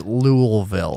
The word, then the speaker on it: Louisville: it's all the way it's louisville louisville that's how they say it louisville um um they're